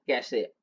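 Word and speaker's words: cache: permanent होता है ठीक अब देखिए ठीक है कैसे मेमोरी क्या है कैसे मेमोरी को प्रोनाउंस कैसे करते हैं हम लोग सी ए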